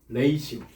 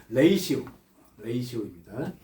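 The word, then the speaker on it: ratio: 레이시오. 라티오라고 읽었다가 욕먹었어요. 레이시오입니다.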